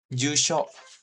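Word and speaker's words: じゅうしょ: Jusho. Jadi bacanya jusho gitu ya. Kayak gitu. Seperti ini, jusho. Jadi U-nya kan ada yu. Nah, ini kebetulan yu sama u sama. Jadi u-nya panjang gitu. Jusho gitu.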